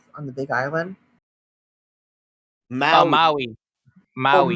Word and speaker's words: Maui: The town in Mali you're running in, is it called Mali itself on the Big Island? Oh, Maui. Maui. Oh, Maui. Maui. Okay. Not Molly.